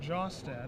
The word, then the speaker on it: Jostad: Last name is pronounced Jostad, in case you are wondering.